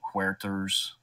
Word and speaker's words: Huerter: Sorry, I got to say it like it's a Hispanic name. He doesn't look Hispanic. No, he doesn't. But, you know, that's just how you pronounce it. It's H-U-E. Huerter.